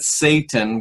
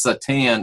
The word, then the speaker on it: Satan: The Satan, which we mispronounce Satan, it's not Satan with the emphasis on the first word, it's Satan, emphasis on the second syllable, pardon me.